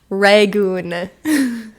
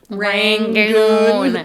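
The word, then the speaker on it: rangoon: to tell you what is it rangon not Ron rangon there's an N I was you're not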